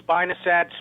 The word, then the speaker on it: spinosad: The chemical, I've heard three different ways to pronounce it. Spinosad, spinosad, spimosid.